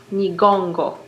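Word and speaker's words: Nyiragongo: Is that Nigongo. It's an NY to start.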